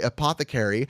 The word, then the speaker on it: Apothecary: Apothecary is pronounced, by the way, Apothecary, and it is your sneakers' favorite socks.